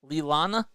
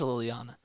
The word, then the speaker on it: Liliana: Is that how you say it? Lilana? Or no, it is Liliana.